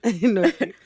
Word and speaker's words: Norfolk: Norfolk. Yeah, no, Norfolk. y'all pronounce it a little different.